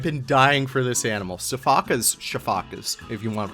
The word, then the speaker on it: sifaka: Sifakas, if you want to pronounce it the right way.